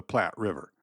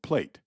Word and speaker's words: Plate: The Rio de la Plata should never be called the Plat River, pronouncing it as we do the Plat River in Nebraska. If the English form is used at all, it should be called plate, which is so universal